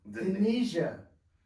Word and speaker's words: Danesia: You see, like you say Indonesia. Oh, okay. Okay. Okay, got you. you. The I-N and put the D-A. Danesia.